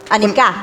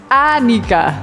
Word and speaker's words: Annika: Annika. Es Annika. Annika. En alemán de tendencia siempre la pronunciación Sí. es la primera sílaba, por eso yo creo que la gente lo siente como un idioma Más duro duro.